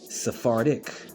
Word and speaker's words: Sephardic: Sephardic, like Noirdic.